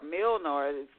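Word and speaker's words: Mjölnir: and mother j o l n i r milor doesn't spell the way it sounds m j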